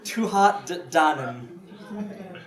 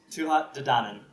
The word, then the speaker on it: Tuatha Dé Danann: Tuatha Dé Danann. I wrote it all phonetically, because it's all in Gaelic. Again, YouTube. Tuatha Dé Danann.